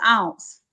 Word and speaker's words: Ounce: Now there's an ounce, and that's what I would really think of an ounce, a cute little bottle. My name is Ounce. It rhymes with bounce, you see.